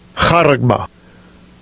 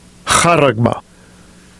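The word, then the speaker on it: χάραγμα: And I'll let you hear the pronunciation of it. Strongs G5480. Karagma. Karagma.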